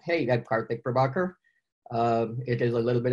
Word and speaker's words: Karthik Prabhakar: rather than have people try and struggle with pronouncing my name correctly I sometimes jump in and say hey that partly pravakar it is a little bit of a mouthful